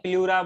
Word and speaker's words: pleura: प्लूरा बोलते हैं। Membrane of lungs को क्या बोलते हैं? प्लूरा प्लूरा। बोलते हैं।